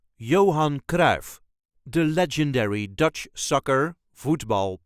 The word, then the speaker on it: Johan Cruijff: a regular Dutch accent Johan KRA the legendary Dutch sucker football player coach and manager this is the way us duchies say Johan KRA Johan KRA there is no real emphasis on any part Johan K yo on